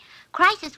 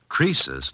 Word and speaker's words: Croesus: Crisis was a rich king. Oh, don't you know, Susie? Croesus, not Crisis, was a rich king.